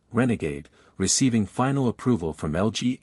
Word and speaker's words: RNGD: South Korean startup Furiosai announced it has secured its first major contract with its AI chip RNG, pronounced Renegade, receiving final approval from LG AI research after a rigorous 7-month evaluation.